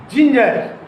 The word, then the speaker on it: ginger: The pronunciation of G is J, not Go. Remember it. However, I am going to pick up the first example. For example, ginger, Ginger, ginger.